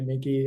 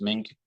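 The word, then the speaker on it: Meink: weeks ago uh my my understanding of how the gentleman pronounces his last name is mink but I don't know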